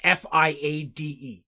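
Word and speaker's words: Fiadh: names and stuff like in the current adventure fia is a traditional scottish gaelic name and it's f-i-a-d-e it's pronounced fia and so i uh her name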